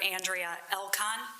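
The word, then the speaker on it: Andrea Elkon: Andrea Elcon. That's spelled A N D R E A E L K O N.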